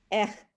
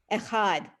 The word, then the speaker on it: echad: In general, Hebrew words are accented on the last syllable. That's a So rule of challah. thumb, so to speak. So it's challah, lechem, minucha, echad.